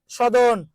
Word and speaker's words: সদন: খানা, সদন, আবার দন্তেশ্বর জায়গায় চ উচ্চারণ করিয়েন না ভাই, ওটা কিন্তু সদন, ঠিক আছে, সদন।